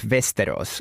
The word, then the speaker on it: Västerås: So basically there's a Russian Orthodox church near the airport of Västerås. That's the correct pronunciation, by the way, in Sweden.